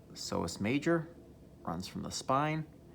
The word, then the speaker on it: psoas: here we can see psoas major so the p is silent psoas major runs from the